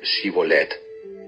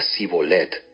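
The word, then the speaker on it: שיבולת: no no lo soy ellos le pedían que pronunciara la palabra shibolet si era de Efraín diría si bolet porque a la gente de Efraín le cuesta pronunciar bien esa palabra entonces se lo llevaban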